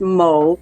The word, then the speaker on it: Moe: So Mo Okay. is spelled MOE because some, mainly for women, I think they spell it MO, but it's MOE.